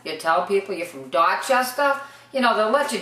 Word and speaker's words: Dorchester: Dorchester. No R's. Dorchester. It should be Dorchester, but we don't say it like that.